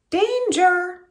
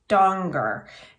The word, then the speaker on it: Danger: hollers oh oh Miss Danger he mispronounces my last name doesn't rhyme with stranger like everyone assumes it's actually Donger and I usually correct